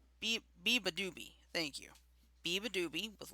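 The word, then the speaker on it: Beabadoobee: Be a Badaby with Last Day No, on it's Earth. Beeba Doobie. Biba Doobie, thank you.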